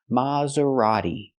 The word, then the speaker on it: Maserati: Italian kind of thing but again in American it's maseri it is not pronounced Mazerati in America we say Mazerati so the first syllable is more open not M but Ma use the open Sound ah like hot and stop ma Maserati and the t is not pronounced like t t is pronounced d a fast D Maserati not Maserati but Maserati use the fast D this is a Maserati